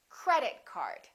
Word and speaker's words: credit card: words representing one object we stress the first word repeat after me credit card also say these two words as one word join them together don't say credit card say credit card let's practice some compound